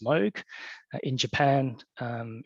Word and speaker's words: Moog: out that in English the company name is pronounced MOG in Japan um it's M um we employ